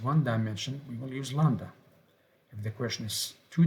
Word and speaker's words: Lambda: so this is Lambda Lambda the B is silent Lambda and the second